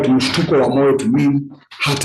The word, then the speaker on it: mshtuko: Let me break down the word mshtuko. Is mshtuko.